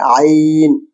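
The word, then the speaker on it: عين: দেখছি সেই অক্ষরটা হচ্ছে তার নাম হচ্ছে আইন এটাও আপনার হার হার যে মাখরাজ আছে ওখান থেকে উচ্চারণ হয় গলার মাঝখান থেকে বের হয় আরবি স্পেশাল সাউন্ড বাংলা ধ্বনি আ গলার গভীর থেকে গলার গভীর থেকে আসে মাঝখান মাঝামাঝি স্থান থেকে উচ্চারিত হয় যেমন ইলমুন আইন আইন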